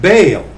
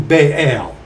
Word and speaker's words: Baal: unto them Ahab served baale ba this one doesn't have the pronunciation key it's a two- syllable ba or Baal okay Ahab served ba